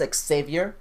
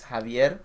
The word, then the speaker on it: Javier: For some people, it's Xavier, Yep. but in Spanish it's Javier.